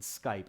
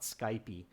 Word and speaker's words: Skype: the US or Canada you'll hear the word Skype not Skype II okay so practice pronouncing